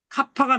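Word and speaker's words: κάππα: 카파가 나오네요. 카파가. 카파가 나오는데 이거는 K자처럼 쓰면 돼요. K자처럼 이렇게. 이거를 우리가 카파. 카파니까 요 키읔자가 보이는데 요게 발음이에요. 다시 한번 강조하지만 카파라는 말을 몰라도 될 정도로 요게 나오면 키읔자다 발음이.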